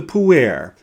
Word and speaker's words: Puer: We'll also get to know his counterpart and sometimes archenemy, the Puer, which is spelled P-U-E-R, and which is Latin for young man.